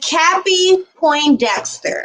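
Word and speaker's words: Cappie Pondexter: Point Dexter. WN ex WNBA player. Her name was let me get this because I want to say it correctly. Her name is Cappy Poindexter.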